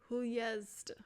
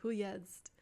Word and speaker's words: Huest: Huest. Okay, I definitely have not been pronouncing that correctly. Huest.